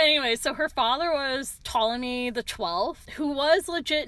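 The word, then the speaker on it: Ptolemy: name or the word Tommy. I don't. You don't. Also, just uh for people who are listening and not reading, it's a PT. The P is silent.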